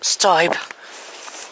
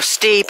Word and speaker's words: Stibe: And her husband, my grandfather, Arthur Frederick Stibe, or Steeb, however you want to pronounce it, he died 12 years later in 1962, when I was 10.